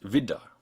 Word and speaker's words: wieder: This word, for instance, is pronounced wieder with just a D sound, because it's not a compound.